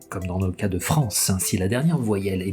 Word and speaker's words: France: qui ont plusieurs syllabes, si le E est final, le E est muet. Donc clairement, vous n'allez pas dire françeux, vous allez dire France, parce que vous allez mettre l'accent tonique sur la dernière voyelle qui sonne, et cette voyelle, c'est la voyelle nasale en.